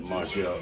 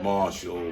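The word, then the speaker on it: Marshel: is michelle okay that is martial m-a-r-s-h-e-l got you well i've been being confused with marshall that's not you that's not me you're marcel it's kind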